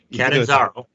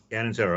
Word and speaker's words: Catanzaro: make sure I'm pronouncing this correctly, Catanzaro. You got it. Catanzaro, all right.